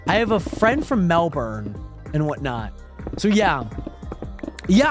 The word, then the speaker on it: Melbourne: for the posture check not pronounced Melbourne um it's pronounced Melbourne I've always heard it as Melbourne but I guess you are the Australian you know what I